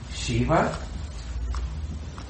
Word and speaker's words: Shiva: Se escreve assim, Shiva para ficar portuguesado. Chiva não é nome de whisky, mas era o Chivas. Chivas é mesmo som.